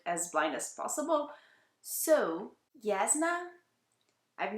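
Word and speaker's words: Jasnah: it's supposed to pronounce should be pronounced as a y so yazna she is one of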